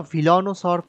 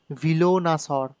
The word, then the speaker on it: velonasaur: now this is the velanosaur paddock wait i pronounced it wrongly it is villonus or paddock so we have the